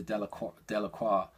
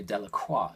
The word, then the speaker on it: Delacroix: Written down, we'd all say Delacroix. We probably, most of us would say Delacroix because we'd see it and we'd recognise it somehow as French. The villagers pronounced his name Delacroix.